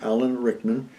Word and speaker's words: Alan Rickman: Is that correct, the way I pronounce the name? Alan Rickman.